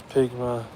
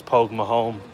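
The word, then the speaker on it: póg mo thóin: Like, what does pigma? That's not how you say it. It's pogma home.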